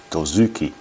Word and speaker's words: Dozuki: Now, Dozuki is pronounced Dozuki.